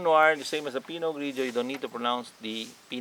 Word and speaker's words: Pinot Grigio: the fourth one it's pinot grigio all right the pino you will see that they have a letter t at the last end but you don't need to pronounce it and pronounciation is pinolan and then the gridio